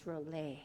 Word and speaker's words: Rola: time save money save the planet I'm Rowley and my company is go bio community fuels thank you awesome thank you and sorry I mispronounced your last name it's Roble so some questions for and his awesome